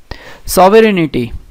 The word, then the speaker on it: sovereignty: Okay, see, sovereignty has G in it, so this option you can straight away eliminate it. Okay, and word pronounced as nitty, but it doesn't have an ity in it.